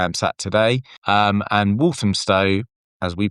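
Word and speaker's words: Walthamstow: um and Walam Stow as we pronounce it in E17 E east northeast London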